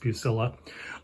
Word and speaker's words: Bucilla: for Bernard Ullman company it's not Italian and it is pronounced bucilla but they produced numerous